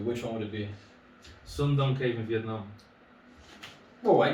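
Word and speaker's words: Son Doong: Sun Dong Cave. I'm sorry. Exactly. Yeah. Well done. You pronounce it perfectly.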